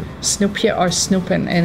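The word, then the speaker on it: snoepje: smell it like Snoop maybe maybe but no it's spelled differently and it's s n o e p j e Snoop or snooping and it's a verb actually a verb great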